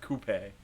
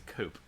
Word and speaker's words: coupe: f1 and stuff two pronounces it coupe and not coupee it's a coupe you it's a coop um anyway uh so